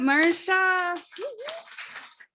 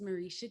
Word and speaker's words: Marisha: All right, let's bring up Mara Shah. Hi, y'all. It's my first time here. My name is Marisha. But no, you're actually fine. That is the Hebrew pronunciation, and it is a biblical name.